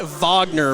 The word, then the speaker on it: Wagner: they could do um i think we pronounce it wagner by the way yeah it's kind of like the uh the ufc brazilians with the r the rs or h's you know the hard re instead of rodriguez in america you